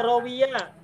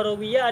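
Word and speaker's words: رَوِيَ: Rawa sama rawiyah huruf-hurufnya sama, tapi cara baca wawunya beda. Ada yang wa, ada yang wi. Ada rawa, ada rawiyah.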